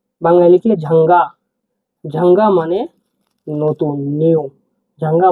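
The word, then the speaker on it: жаңа: ই হিসেবে উচ্চারণ করব। আমরা উদাহরণ দেখছি। দেখুন ঝাঙ্গা। ঝাঙ্গা।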